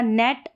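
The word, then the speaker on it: gnat: उसने कह दिया था यह जो है जी यहां पर साइलेंट रहेगा नेट अ स्मॉल फ्लाई एक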